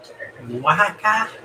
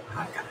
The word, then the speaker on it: Oaxaca: Oaxaca is how it is pronounced. Oaxaca.